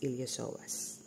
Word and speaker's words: iliopsoas: So you have here the here the ilosoas no. Okay. There the ilosoas. So it's spilled iliopsoas but it's pronounced as ilosoas.